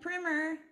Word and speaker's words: Primer: Miss Primer, rhymes with swimmer, my favorite high school PE teacher.